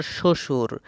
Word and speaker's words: শ্বশুর: ব ফলার উচ্চারণ নেই কোন শব্দে? উত্তর শ্বশুর।